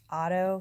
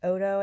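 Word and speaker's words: Oddo: right here on YouTube the last name is spelled OD do I thought it was Otto first but it's odo I think so listen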